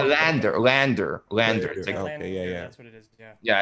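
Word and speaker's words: LANDR: um but to defend lander is that how you say it lander right lander land r right that that's spoke landon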